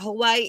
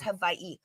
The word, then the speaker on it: Hawaii: right your W's and it's not Hawaii it's Hawaii your W's are pronounced as V's fun fact Kihei this is